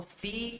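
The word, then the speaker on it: في: Note that the final ya which is pronounced alif has no dots. So fee is fee and ala is ala.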